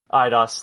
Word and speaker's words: Eidos: Eidos, thank you. I don't remember how to fucking pronounce it.